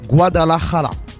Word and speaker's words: Guadalajara: auditeurs qui vont vouloir nous tuer, bien le prononcer? Alors, en fait, on dit Guadalajara.